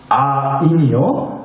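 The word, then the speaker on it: עין: 아인이요. 말로만 하면 별로 알아듣지가 않으실 것 같아서 준비해갖고 왔어요. 이게 히브리어입니다. 네, 콩나물 때가 엿보는 것 같이 생겨서 이게 히브리어예요. 근데 이게 어떻게 읽냐? 아인이라고 읽어요.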